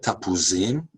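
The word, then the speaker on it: תפוזים: This is a line that's often used to prove Jewish identification, since most Arabs cannot pronounce the letter P. And in Hebrew, the line goes, "Rotze tapuzim."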